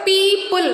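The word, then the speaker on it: people: इफ you observe पीपल वी आर not saying P ओपल र पोपल हाउ वी are pronounce it पीपल so which sound we are pronounce in the combination of इवो इ combination उ कदा here evo इन evo combination O will be silent only we are pronounce E sound so इट इज पीपल O will be silent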